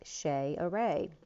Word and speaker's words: Cesare: years ago, but was Cesare, which is the Italian way of pronouncing Caesar, but I literally had named my child Cesare, phonetically spelled like Shay Array, not realizing what it